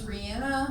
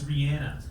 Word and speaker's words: Rihanna: We weren't saying her name right. Yep. It's Rihanna. It's Rihanna.